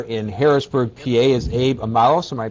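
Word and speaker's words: Amoros: joining us here in Harrisburg PA is Abe amaros am I pronouncing your name right it's amaros amaros okay and you are the executive director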